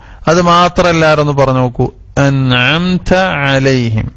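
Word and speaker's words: أَنْعَمْتَ عَلَيْهِمْ: അൻഅംത അലൈഹിം, അത് മാത്രല്ല ഒന്ന് പറഞ്ഞു നോക്കൂ. അൻഅംത അലൈഹിം, രണ്ട് ഐനുണ്ട് അല്ലെ. അവിടെ പലപ്പോഴും നമ്മൾ ബലം പിടിച്ചിട്ട് അ എന്ന് ഹംസ എങ്ങനെയാണോ പറയുന്നത് അത് ശിദ്ദത്തിന്റെ അക്ഷരാണ്. എന്നാൽ ഐന് തവസ്സുത്തല്ലേ.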